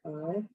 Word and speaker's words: hay: And you say it just like your I, it looks like hey, right? But you say I, because H is silent.